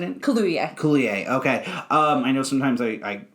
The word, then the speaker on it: Kaluuya: Am I pronouncing it? Kaluuya. Kaluuya.